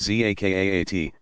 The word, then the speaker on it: Zakat: Zakat, pronounced Zakaat, almsgiving, is one of the 5 pillars.